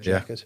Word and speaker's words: Jack1t: But it's Jack 1T. Yeah, that's how it's spelt, but it's actually called Jacket.